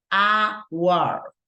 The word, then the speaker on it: hour: And remember that I mentioned this, even though right here we have the letter H, we don't pronounce in this particular case, it's right, it's unsounded, it doesn't have any sound. So we say hour, right?